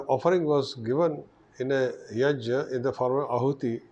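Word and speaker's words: yajña: Yajna, people pronounce it as yagya, It is not correct. It is ja, ya, yaj.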